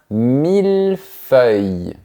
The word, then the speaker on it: mille-feuille: Dans la première partie, on prononce bien le son de la lettre L, mais pas dans la deuxième. Regarde bien ma bouche. Un 1000 feuilles.